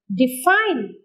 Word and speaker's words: define: Define. Define. Here D is a weak prefix, so the stress moves to the second syllable.